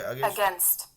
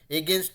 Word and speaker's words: against: Sorry, ये सुनिए Against. Against. Against. Against. तो ये वर्ड है अगेंस्ट. ठीक है, अगेंस्ट, अगेंस्ट, अगेंस्ट, एगेंस्ट नहीं होके अगेंस्ट, अगेंस्ट, है ना.